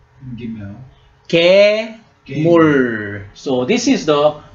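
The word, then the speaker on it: גימל: The third letter in Hebrew alphabet, how do you pronounce? Gimel.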